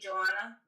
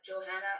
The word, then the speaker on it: Johanna: Usually in Spanish the H is silent, but it's been known to say it would it would be Joanna, but Johanna and I think it's still acceptable, right?